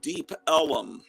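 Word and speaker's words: Deep Ellum: Chicago say kids anyway Elm Street became Elum Street and deep Elum Street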